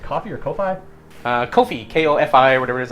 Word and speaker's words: Ko-fi: The only thing that I got left is, I mean, you started a coffee, or what is it pronounced? Coffee or Ko-Fi? Ko-Fi, K-O-F-I, or whatever it is.